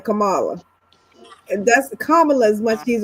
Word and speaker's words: Kamala: No matter how many times you say they keep they keep saying just like what Kamla, they just got to say Kamala.